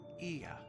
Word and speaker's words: Ia: When the vibration of vocal folds was still required to convey our thoughts and intentions, Ia, I believe, was the pronunciation used when referring to our people.